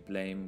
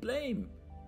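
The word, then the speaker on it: Blame!: Anyway, this is Nihei Tsutomu, Legend Who Brought You Blame, which is Blame. It can't be pronounced Blam, but everyone pronounces it Blam, but it's Blame.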